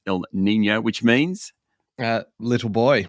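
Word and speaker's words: El Niño: without the Y spelled without the Y but pronounced Ill Nino which means uh little boy little boy so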